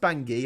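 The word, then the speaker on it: Bangui: I think it's pronounced bangi actually um yeah it is because the river is called the ubangi so it must be bang it must be pronounced bangi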